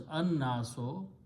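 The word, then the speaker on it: الناس: taking the example of Al naso which is pronounced as anaso this has an Al before that and sound is ano okay if you have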